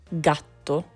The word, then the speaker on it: gatto: It sounds like G, as in go, before A or U, gatto, gatto.